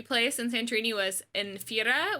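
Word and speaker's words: Thira: in santorini was in fira which is spelled t-h-i-r-a uh and fira so we went to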